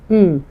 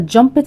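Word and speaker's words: jumped: اه طبعا عارفين طب يلا نقراها كده مع بعض ت ا جمبد ا جمبد ا جمبد جمبد لا طبعا غلط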